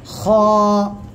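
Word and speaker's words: خ: হয়েছে গলার শেষ ভাগ গলার শেষ ভাগ থেকে আমরা এই অক্ষরটা উচ্চারণ করব খ এক আলিফ টান হবে মোটা আওয়াজে উচ্চারণ হবে খ সবাই একসাথে জোরে জোরে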